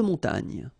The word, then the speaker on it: montagne: So remember here, O-N, on, mon, ta, and then this G-N-E, ny.